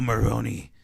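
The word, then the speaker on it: Maroni: like man you know Moroni rhymes with pepperoni he flips he flips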